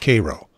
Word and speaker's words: Cairo: They call it Cairo, not Cairo.